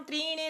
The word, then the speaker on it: त्रीणि: पृथिव्याम त्रीणि रत्नानि जलम अन्नम सुभाषितम। यहाँ पर उच्चारण में ध्यान देना है, बच्चे इसको त्रा समझते हैं, त्रा त्रिशूल, जबकि ये त्रा नहीं है, यहाँ पर दो ना है।